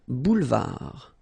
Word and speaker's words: boulevard: Final D not pronounced. Un boulevard.